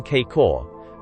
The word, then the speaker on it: K-Kor: word, as K-Kor, gorges, pronounced as though written K-Kor, the A having the sound of A in sofa, Lions, Dao Don.